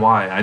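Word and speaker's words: 이: So like the last name Lee, which is actually my Chinese last name Lee, is pronounced Yi or something like that in Korean.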